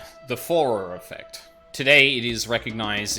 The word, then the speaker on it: Forer: The Fourier effect? Like Fourier... No. I'm thinking of Fourier transforms, which is different. For rare pronunciation. I don't believe that. Sure. As spelt, I guess. The Forer effect.